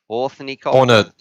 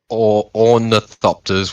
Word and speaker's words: ornithopter: How do I even pronounce this? Ornithopter? Ornithopter.